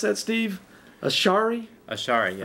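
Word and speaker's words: Ash'ari: How do you pronounce that, Steve? Ashari? Ashari, yeah. Ashari.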